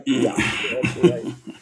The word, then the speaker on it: Piaf: Anyway, uh It's pronounced Edith Piaf. Yeah, I'm sorry. Piaf.